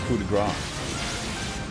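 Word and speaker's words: coup de grâce: go pulled the grass actually coup de Gras it's a correct pronunciation big shine stone always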